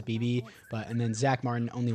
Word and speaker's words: Beebe: 7 for Tyler Smith, 6 for Terrence Steele, 2 for Cooper Beebe or Bebe. I don't know how you say it. I'm pretty sure it's Beebe.